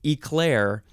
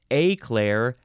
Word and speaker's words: eclair: okay the differences are you can either emphasize the first syllable or the second syllable and then you can pronounce the first vowel different ways eclair a Claire eclair eclair or eclair eclair